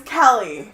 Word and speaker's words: Kelly: You just call me Kaylee. I said Kelly. I heard Kaylee. I think you're just... Because you mispronounced your name. It's fine. No, my name is Kelly.